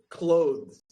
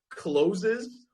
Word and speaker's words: clothes: Clothes. Like if you've ever tortured students with this word, you know that they always either say like closes or they say clothes, right?